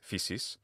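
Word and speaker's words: φύσις: Modern Greeks pronounce this physis.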